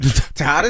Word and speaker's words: Tejadas: I don't think you say the J. Right. How you pronounce it? Tejadas, isn't it?